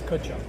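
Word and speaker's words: Tkachuk: name t Chuck tck it's kachuck kachuck kachuck kachuck no tea no tea okay tea is silent and kachuck that's really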